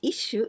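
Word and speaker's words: 一首: Well, this shu, here we read shu, but we can also pronounce kubi. And kubi, it means neck. But here, isshu, it means one poem.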